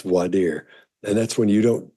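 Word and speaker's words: voir: and you hear some people call it that Voyer D but it's but it's pronounced voer and that's when you don't you don't select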